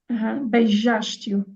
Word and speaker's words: beijaste-o: Beijaste-o. Beijaste-o. And where's the queen here? So the stress syllable. Ash. Beijaste. Yeah. Beijaste-o. And that's why you don't hear the oo almost.